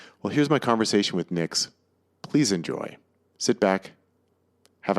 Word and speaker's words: Nyx: Am I pronouncing that correctly? Nyx? Yeah, Nyx.